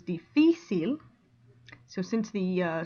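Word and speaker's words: difícil: the stress difficile okay it ends in an l which is a consonant so should theoretically go difficile but that's not the way it goes it goes difficile so since the uh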